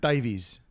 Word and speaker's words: Davies: Davies. Davis, but No, it's Davies. he goes by Davis. What? And then Ray Dave Davies. goes by Davies. Oh, those guys are nuts. Yeah. I met Dave Davies.